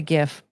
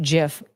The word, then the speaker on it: GIF: Also, I'm pretty sure it's pronounced GIF. I will never pronounce it that way. It's GIF. It's GIF. The G stands for graphic. It's not graphic.